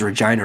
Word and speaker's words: Regina: It's because Regina rhymes with fun.